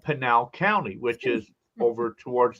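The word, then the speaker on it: Pinal: he says oh Jack by the way it's pronounced panal I I've been saying penal all week long you know so hey Rick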